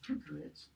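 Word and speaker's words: Kökeritz: to look at Helga Kukeritz's, that's how you pronounce that name, Kukeritz, Helga Kukeritz's Shakespeare's pronunciation.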